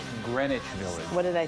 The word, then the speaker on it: Greenwich: It's Greenwich Village. What did I say? Greenwich? You said Greenwich. But oh, yeah. Well, it's spelled like...